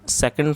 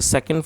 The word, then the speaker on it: saw: बहुत से लोग इसको सा पढ़ते हैं, तो जो सा है वो करेक्ट प्रोनाउंसिएशन नहीं है, आपको इसको सौ पढ़ना है, SAW सौ।